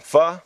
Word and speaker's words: pho: I like to say it is pronounced fuh but here in the states you know most people call it faux and I'm okay with